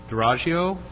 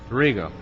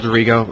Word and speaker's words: Dorigo: The next card is Duraggio? Dorigo. You know, I was overpronunciating for you, for your benefit, and thank you for coming this morning. Good morning. My name is Dorigo.